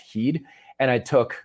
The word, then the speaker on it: HEED: this electrolyte solution called heed it looked like head but it was actually pronounced heed and i took like